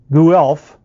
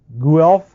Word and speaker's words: Guelph: the University of here's another name I can't pronounce Guelph Guelph Gulf g-u-e-l-p-h in Ontario Canada he lists two